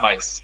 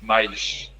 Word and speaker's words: mais: But not mice. Mais. Mais. S at the end of a syllable.